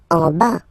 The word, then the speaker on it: en bas: En bas, final S not pronounced, en bas, en bas.